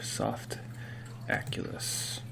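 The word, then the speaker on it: Softaculous: Okay, I'm back in the account management panel, and what you want to look for is the little guy right here, Soft Aculus.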